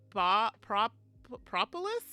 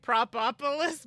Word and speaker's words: Propolis: Prop propolis. Propulolis. I always want to add another like propopolis, but it's not.